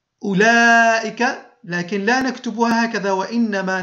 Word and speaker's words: أولئك: وبالنسبة لأولئك تكتب الواو، لاحظوا معي، تكتب الواو بعد الهمزة ولا تنطق، وتمد اللام، هذه اللام تمد لائك اللام دون كتابة الألف، أي تنطق هكذا أولئك، لكن لا نكتبها هكذا وإنما نكتبها بهذه الطريقة أولئك.